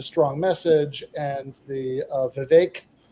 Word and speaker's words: Vivek: message and the uh Vivek uh I always I always want to mispronounce that but you know I remember his helpful uh advice that rhymes with cake uh his big argument